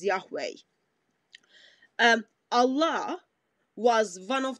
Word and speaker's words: Yahweh: is my name forever we pronounce that as Yahweh um Allah was one